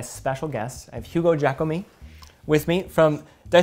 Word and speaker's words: Jacomet: I have Hugo Jacomet with me from, did I say it right? Yeah, Hugo Jacomet. Jacomet.